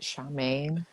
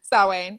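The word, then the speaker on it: Samhain: pagan you celebrate like is it charmaine it's spelled out salwain saw wayne yeah h-a-i-n yep not a word i've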